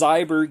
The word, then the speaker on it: Zyber: called veer store and the listing was cyber gears and that's spelled z-y-b-e-r i mean partially i